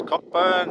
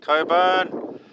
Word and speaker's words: Cockburn: So we're at a little town that I'm going to pronounce as Cockburn. Some people call it Coburn, on the highway.